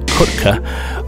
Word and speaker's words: Kutkh: I believe it's pronounced Kutkh. It's spelled K-U-T-K-H.